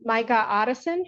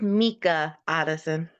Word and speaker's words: Mika Otteson: Signature on behalf of Micah Otteson, who appears on Zoom. And It's Your Mika Honor, Addison. oh yeah, I'm sorry. Mika Otteson, apologies. It's what? It's pronounced Mika Addison.